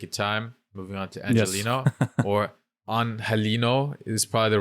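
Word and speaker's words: Angeliño: He's like, because I know it's difficult to say, but the correct way to say it is Angelino.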